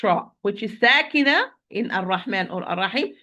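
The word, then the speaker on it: الرحمن: So circling the lips when pronouncing it. As in, I'm going to recite it properly. It's Ar-Rahman Ar-Rahim. Ar-Ra, lips are not involved.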